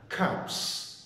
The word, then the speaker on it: cups: Ok, mình phải bật hơi chữ K đó, mình không đọc là cups, mình phải bật hơi là mình phải bật hơi là cups, cups, cups, cups.